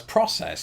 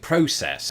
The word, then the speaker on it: process: video, I realised that I pronounced the word process as process, and I think that when I lived in the United Kingdom, I would have been far more likely to, and in fact I did, pronounce it process, and that does tend to be the predominant pronunciation of it back in Britain, though, there could be